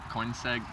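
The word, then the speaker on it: Koenigsegg: how you pronounce it it's like coin seg coin it's like a fancy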